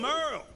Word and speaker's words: Merle: Hey there, I'm Merle, spelled like Hurl.